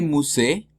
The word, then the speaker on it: musée: Le musée, la última es muda porque no tiene acento, pero pronuncio lo que está al lado que sí tiene acento, ¿no? Entonces le musée.